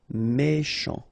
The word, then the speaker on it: méchant: Final T not pronounced. C-H together, sh. Méchant.